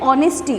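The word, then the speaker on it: honesty: तो देखो इसमें क्या होता है, एच जो है वो साइलेंट रहता है, तो इसके कारण हम लोग इसको बोलते हैं ऑनेस्टी।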